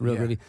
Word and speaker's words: Real Groovy: I keep saying groovy times, but it's Real Groovy.